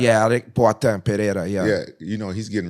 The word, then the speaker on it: Pereira: Yeah, Alex Pereira, yeah.